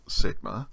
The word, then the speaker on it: sigma: Sigma or the other Sigma we saw at the end of a word the sound is still s as in snake and most keyboards use